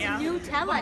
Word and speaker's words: Nutella: It's Nutella, Nutella. But Nutella, it's spelled N-U-T. That's nut. It's like Ella.